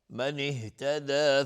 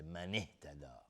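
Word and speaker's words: مَنِ اهتدى: من اهتدى، نمیگیم من اهتدى، این اشتباهه. من اهتدى نمیگیم، من اهتدى، یعنی انگار دیگه الف حذف میشه در حالت وصل.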